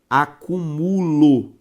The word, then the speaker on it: acúmulo: tá escrito é a palavra acúmulo com a sílaba tônica em mu e essa palavra pode